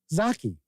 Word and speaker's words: Zaki: Kabuki Kid says, yes, Zaki is accurate for how to pronounce Zaki.